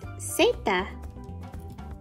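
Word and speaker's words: zeta: Z in Spanish is pronounced seta.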